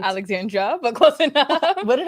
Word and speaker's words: Alexandra: Did I pronounce Yes, that right? Alexandra, but close enough. What did I say? Alexander. Oh my gosh. Alexandra.